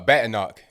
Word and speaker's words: Badenoch: call kimmy kimmy gibber um nah it's uh baton knock b a d e n o c h and that's you spell it k-e-m-i okay so yeah um was she